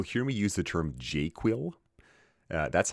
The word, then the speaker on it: JQL: Now you'll hear me use the term jQuil. Uh that's how I pronounce JQL in the same way people pronounce SQL as SQL.